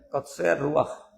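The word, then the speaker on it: קוצר רוח: En Éxodo 6:9 aparece una frase hebrea que se pronuncia Kotzer Ruach.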